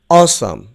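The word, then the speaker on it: awesome: তারপর যেটি রয়েছে দেখো, উচ্চারণটি ভালো করে শুনবে, অসাম। অসাম, আমি আবার বলছি অসাম।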